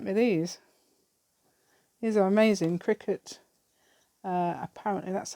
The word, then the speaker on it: Cricut: my friend sent me these these are amazing cricket uh apparently that's how you pronounce it um it looked quite nice on